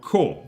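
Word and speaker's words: こ: is is theana for Co is pronounced like cohabitating in British English is also Co coin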